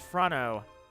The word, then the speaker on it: Frano: Frano. The Italian pronunciation of it would be Frano, so I'll go with that.